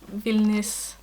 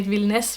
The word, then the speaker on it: Vilnius: sweater and i think someone asked me if vilnius or vilnes we say vilnes but i'm just trying to pronounce it more close to how it's written vilnius is wilderness in